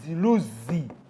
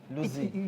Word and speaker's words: Luzzi: How do they pronounce My name is Luzi. Luzi. You put strength when you're saying that.